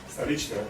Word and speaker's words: Stolichnaya: Stolichnaya. Stolichne.